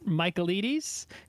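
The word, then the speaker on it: Michaelides: So, this book is by Alex Michaelites. Uh, I think that's the correct way to say it. You just say Michael and then you say Edes because he's Greek.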